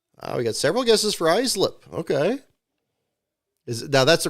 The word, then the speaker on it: Islip: Because I said Islip in field fillers, and then that was clearly not right. So it's Islip, right? So you actually pronounce the I as an I slip.